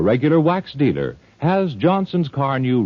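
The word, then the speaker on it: Carnu: Chances are your service station, auto supply store, or regular wax dealer has Johnson's Car New right now waiting for you to ask for it. It's spelled C-A-R-N-U. Car New.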